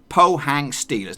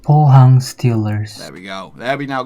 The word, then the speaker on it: Pohang Steelers: the Pohang Pohang Steelers but you're supposed to say it Pohang Steelers now it's not too hard just kind of like FC cold ref C so really even though I messed that one up anyway but just in case you're unsure how to say Pohang Steelers Robin Park the Meister out of Canada here he comes poor hyung Steelers Pohang Steelers tell me a little